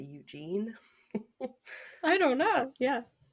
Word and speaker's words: Eugen: So the Bismarck and its escort, Prince, it's spelt like Eugene, but without the E at the end. So I'm just going to say Eugene.